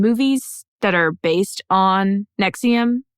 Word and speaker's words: NXIVM: that are based on Nexium which is spelled NX IVM okay and it's not the drug Nexium oh there's a drug